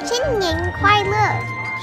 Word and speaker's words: 新年快乐: 新年快乐. 新年快乐.